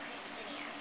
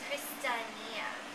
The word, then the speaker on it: Kristinia: it wrong so Okay the reason why you're saying it wrong I understand it's because the fonetic spelling on my website is wrong okay it says Christinia it's not Christinia what is it it's christania christania christania christania like that or